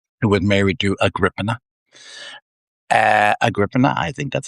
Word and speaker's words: Agrippina: Agrippina, I think that's how you say it.